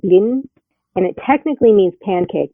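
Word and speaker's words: блин: that technically means pancake, I believe you pronounce it blin, and it technically means pancake, but it's usually used when somebody's like, "Ah, shit," Okay.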